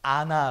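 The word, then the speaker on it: ענה: 자세 한번 찾아봤는데 요 단어가 않아 라고 발음 해요 4 있드시 이 기본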